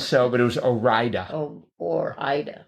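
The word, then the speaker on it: Ore-Ida: Or Ida. Or Ida. Is that how it's pronounced? Yes.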